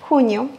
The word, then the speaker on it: junio: Mais que vous prononcez junio ou junio, le plus important ici, c'est de accentuer sur le U. Junio, junio.